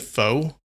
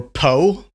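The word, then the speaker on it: phở: That's why I'm introducing you to fur. Yeah, some people pronounce it fo or po.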